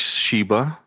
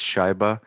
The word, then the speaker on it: Shyba: to happen too so my name is sheba uh some some pronounce it as shaiba which is kind of funny because in in in russian this means uh hockey puck so that's that's